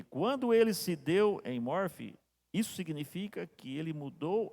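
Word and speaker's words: enmorphe: Eu encontro, vem com esta palavra em morfe. Eu acho que se pronuncia com F, né?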